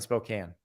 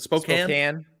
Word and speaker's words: Spokane: Pullman from Spokane Spokane is it Spokane Spokane 90 minutes there's no reason for the E on that on that word we have a lot of Silence ease in the English language sorry that silent E